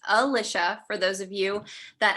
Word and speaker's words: Alicia: up, but it's pronounced Alicia for those of you that haven't met me before. And you are what to make it stick. My family calls me or.